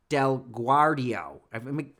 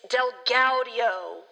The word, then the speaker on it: DelGaudio: his name is derek del guardio guardio as it's spelled it looks like del guardio okay derek delguardio thank you it's delgaudio you know me i